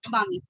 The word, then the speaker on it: barmy: This one with a silent L, that's why it's Bami. This with an R because they cannot pronounce R, so Bami.